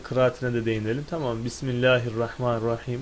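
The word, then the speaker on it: بسم الله الرحمن الرحيم: Bismillahirrahmanirrahim. Bu şekilde okuyoruz. Şaz diyorum. Yani kabul edilmeyen bir görüşe göre bismu şeklinde yani bisu mallahi şeklinde bisumellahi diye de okunmakta bismillah.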